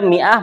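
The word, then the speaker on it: مائة: Ya, ini khusus dia mi'ah bacanya mi'ah.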